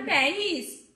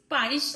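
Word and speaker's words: Paris: ওটা প্যারিস, পারিস না।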